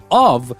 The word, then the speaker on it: of: beginning of the episode of means o f if it is o f f it is off so here when you only have one F you pronounce it like a V of all right so